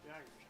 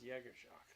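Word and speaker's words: Jaegerjaquez: Jaggerjack. I was about to pronounce Jaggershock.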